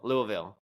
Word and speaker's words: Louisville: Louisville is how you say it.